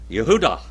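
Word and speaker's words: יהודה: How do you say Judas in Hebrew, Brother Roger? Yehudah. All right, Yehudah.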